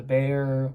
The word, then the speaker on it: Bexar: They also have, Tactile also has a, I think it's spelled the Bexar, but they call it the Bear.